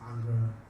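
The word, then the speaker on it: Ingres: This is a work by Jean-Auguste Dominique Ang. Okay, some people, the pronunciation of his name varies. Some pronounce it Angre, some Ang.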